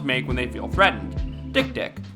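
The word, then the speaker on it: dik-dik: another word for human genitalia that is the dick dick yep it's actually pronounced that way no wikipedia it's not pronounced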